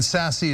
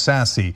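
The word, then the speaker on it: Sasse: as well classy Ben sassy is won reelection in Nebraska um of course he's not classy nor is his last name pronounced sassy nor is he sassy right uh it's Ben sass the Republican senator from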